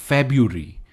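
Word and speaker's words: February: word है English का blue feburi या फरवरी या फरवरी इट्स faburi faburi next common word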